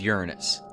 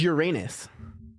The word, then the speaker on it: Uranus: the most ominous appear the official name is Uranus Uranus pronunciation yeah look Uranus how do you read it Uranus the official Pro it is Uranus Uranus but they always say Uranus because then it doesn't sound like anus um but I like